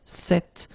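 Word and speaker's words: cette: So it's quite interesting because if you listen carefully, the masculine form here, cet, and the feminine form here, cet, you write them differently, but then you pronounce them the same way.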